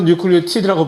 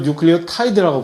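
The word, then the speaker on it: nucleotide: 그러면이 핵산 DNA RNA를 단위체는 뉴클리어티드 또는 뉴클리오타이드 뭐 발음을 둘 중에 아무거나 한국에서 주로 뉴클리오티드라고 발음하고 외국 나가면 이걸 뉴클리오 타이드라고 발음하고 똑같은 똑같은 글자를 가지고 자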